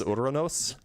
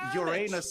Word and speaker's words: Uranus: So, hey, so mythical gold art, you realize that it's called Urronos. No, it's called Uranus. How do you pronounce it in English? In in English, you pronounce it Uranus.